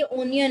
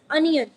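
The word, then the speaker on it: onion: यही कहते हैं कि ये ओनियन है, बट इट्स नॉट ओनियन, इट्स अनियन।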